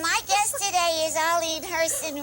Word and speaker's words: Herson: This is the Lamb Chop Show, and my guest today is Arlene Herson rhymes with Wait person.